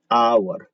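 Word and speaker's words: hour: अब देखिए इधर लिखा है आवर, ये जो यूर आप जानते हैं इसे आवर पढ़ते हैं, लेकिन शुरू हो रहा है एच से।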